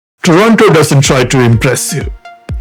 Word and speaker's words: Toronto: Toronto doesn't try to impress you. It just does. A city of glass, steel, and quiet confidence, where everything feels intentional. This is Canada's largest city, pronounced Toronto by locals.